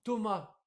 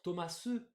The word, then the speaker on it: Thomas: vous l'aurez écrit comment Thomas c'est pas parce qu'on a un s à la fin que ça va être Thomas non on le prononce pas en français logique donc ne faites pas